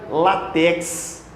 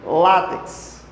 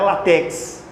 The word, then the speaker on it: látex: Essa aqui é figurinha fácil, porque há quem diga látex. Quando a pronúncia correta é o quê? Látex. Látex. Paroxítona terminada em X. É o látex. Não é latex.